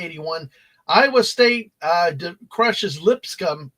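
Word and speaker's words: Lipscomb: Iowa State uh crushes lip scum yeah that's the way you say it lip scum uh 8255 um even though it has a b in it it's silent h what the hell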